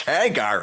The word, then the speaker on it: Hagar: I Hagar the Horrible including learning that is pronounced Hagar I always Ed to call him Hager the horrible and got corrected a few times